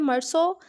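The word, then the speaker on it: Meursault: First of ऑल हमारे पास है मर्सो, ये इसकी फ्रेंच प्रोनाउंसिएशन है।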